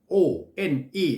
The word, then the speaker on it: one: ตัว อย่าง งี้ One O N E เห็น ม ครับ เขียน ด้วย o n e อ้า ออก เสียง ว่า One อ้าว แล้ว W มา จาก ไหน เ แปลก เห็น ม